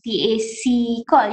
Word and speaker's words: PAC Call: Harwati juga adalah member untuk Pacific Computer Assisted Language Learning, iaitu PAC Call, ya Doktor? Betul ke saya pronounce ni? Kita panggil PAC-Call.